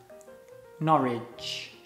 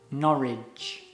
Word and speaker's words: Norwich: It's pronounced Norwich. Norwich.